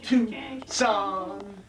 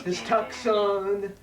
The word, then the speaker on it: Tucson: of monster little plebeian our fair city of to song which is sometimes mispronounced his tux on it was sewn uh